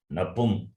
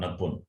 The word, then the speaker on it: नपुंसक: नपुन Not napun. Nap- Napum. नपुंसक. Napum. So there is an anuswar on pu. So what do we pronounce, ga or na? Why ga? From where ga you get? So it has to be na, right? It has to be makara, not nakara.